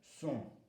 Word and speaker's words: sont: Il, elle, ils sont, elles sont. Le N et le T ne se prononcent pas.